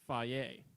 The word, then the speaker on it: FAGE: It's spelled F-A-G-E, but apparently on all of their cups it's pronounced Faye.